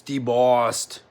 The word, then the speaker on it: debossed: You said it wrong. It's debossed. Debossed.